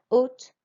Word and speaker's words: haute: le parc de la haute tour. Your turn. Okay, and note here that this H is silent. Écoutez et répétez la haute tour.